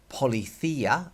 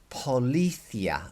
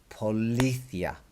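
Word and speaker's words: policía: these accents are to telling you how you pronounce the word so it is not Pali Thea for example it is not Pali Thea and it is not Pali Thea it is Paula Thea look there's an accent on that eye which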